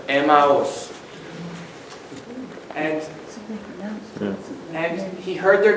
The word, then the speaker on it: Emmaus: way to Amos is was the pronunciation for Germans in the 18th century Emma was three syllables not a mouse not a mouse but Emma was and and he heard